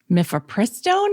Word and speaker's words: mifepristone: Guys, in case you didn't know what we're talking about, the Supreme Court heard the mifepristone.